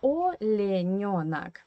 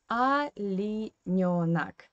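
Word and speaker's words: оленёнок: the Russian phonetic system, because O in unstressed position you pronounce like A. That's why we say in Russian not Olenionak, but Alinionak, yeah?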